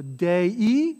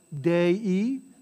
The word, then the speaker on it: Dei: So Dei, right, Dei, two syllables, Dei Patris, amen, Dei Patris, amen.